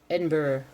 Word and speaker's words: Edinburgh: Edinburgh. Pronounced with silent G.